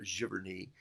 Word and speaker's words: Cheverny: of his home and Cheverny or sure Bernie as they say in France or France depending on